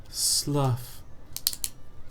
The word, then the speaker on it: slough: Slough, like the skin falling off a snake.